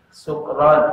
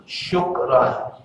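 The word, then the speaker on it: شكرا: Oh, yang suka bilang sukron, kalau nggak benar bacanya artinya mabuk. Sukron ya, itu artinya mabuk ya. Yang benar kalau terima kasih bahasa Arabnya apa? Syukron. Syukron. Kalau sukron, sukaro artinya mabuk.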